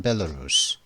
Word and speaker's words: Belarus: Belarus with Russia, Belarus. 벨레루스는 벨라루시죠. 벨로루시라고 그러죠. 우리는 보통 벨로루시라고 그러는데 벨레루스라고 그러면 벨레루스. 발음은 벨레루스라고 하는데요. 미국은 말이죠.